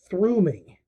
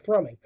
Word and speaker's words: thrumming: He said it as throoming instead of thrumming.